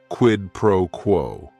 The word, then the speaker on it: quid pro quo: It is 3 words. Each word is only 1 syllable. And if you're saying it together, the stress is kind of on that first word and that last word, quid pro quo.